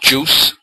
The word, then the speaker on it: JeOS: version of linux called jeos pronounced juice so you don't have